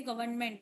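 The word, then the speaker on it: government: गवर्नमेंट में जैसे कैसे आता है गवर्न आवाज सुनाई ना भी दे गवर्नमेंट बोलते हैं जैसे फ में आता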